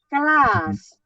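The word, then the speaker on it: Klaas: bagus bagus itu oke tapi sekarang saya baca dengan 2A kelas tulisannya k l a a s itu artinya berbeda itu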